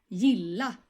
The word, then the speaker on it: gilla: And just to remember you again, many Swedish words will be pronounced and stressed twice in the word. For example, gilla, gilla.